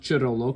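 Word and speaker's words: Cerullo: Um, it's kind of a crisis, and this here's an article by Megan Chirollo, and I know it's pronounced Chirollo because I looked that name up, and it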